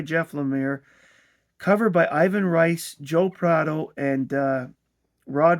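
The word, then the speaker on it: Reis: This is Trinity War chapter 3 House of Cards written by Jeff Laamir covered by Ivan Rice, Joe Praau and uh Rod Rice or is it Reese?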